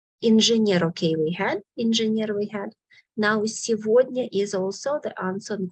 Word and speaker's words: сегодня: In the word сегодня, please select these two letters because the word сегодня pronounces exceptionally. We write сегодня, but we pronounce instead of go, во.